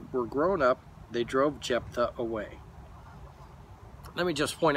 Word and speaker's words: Jephthah: grown up, they drove Jephthah away. Let me just point out too, Jephthah is spelled J-E-P-H-T-H-A-H. So it's like, we say Jephthah, but it's like, oh, it looks weird how you say it.